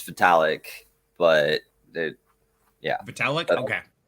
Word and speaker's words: Vitalik: easier yeah yeah exactly we all just say Vivi uh no it's it's vitalik but it yeah metallic